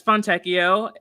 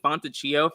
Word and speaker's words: Fontecchio: I realize I say his name wrong. Fontecchio, right? Yeah, it's Fontecchio, and in my head, I've been saying Fontecchio for so long. I just can't not say it that way.